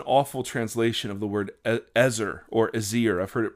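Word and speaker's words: עזר: It is an awful translation of the word ezar or azir. I've heard it pronounced both ways. I'm going to pronounce it ezar.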